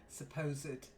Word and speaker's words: supposed: the ragged rascal ran, supposed, okay? A lot of ed endings as an adjective, it's pronounced the e, Right.